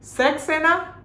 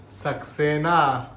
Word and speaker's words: सक्सेना: ओह, सक्सेना। हाँ सक्सेना। अरे पापा, सक्सेना नहीं, सक्सेना। हाँ वही तो बोला, सक्सेना। अरे सक्सेना। सक्सेना। अरे रुक, मैं समझाता हूँ। अंकल, सेक्स नहीं, सक बोलिए, सक।